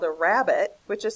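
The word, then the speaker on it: rabbet: picture frame molding has what is called a rabbit which is spelled r a BB e t T this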